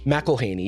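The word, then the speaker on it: McElhenney: McElhaney, yeah.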